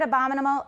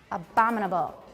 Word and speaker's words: abominable: a stressed syllable but tap on the first syllable everybody go abominable abominable it's it's harder especially for a native speaker because very naturally will go abominable instead of abominable how's your wayfinder there's